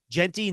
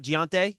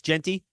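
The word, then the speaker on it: Jeanty: So it is Genty, not Giante. It's Genty. You're asking me to pronounce a name, the correct pronounce.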